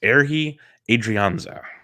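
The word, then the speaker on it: Ehire Adrianza: he came up to the giant system it's airhee adrianza airhee adrianza okay uh he was leading off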